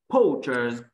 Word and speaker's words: poachers: Nhưng mà poacher số nhiều đọc là giờ. Poachers.